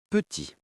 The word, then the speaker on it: petit: Le mot petit. P-E-T-I-T. Si vous prononcez le T final, vous brisez la mélodie. Écoutez la version correcte. Attention. Petit.